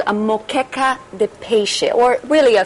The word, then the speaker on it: moqueca: So, and again, how do you pronounce it again? Macaca? Moqueca.